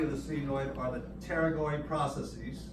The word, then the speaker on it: pterygoid: Hanging down from the body of the sphenoid are the pterygoid processes. P is silent. I would pronounce it pterygoid, so I spell it correct.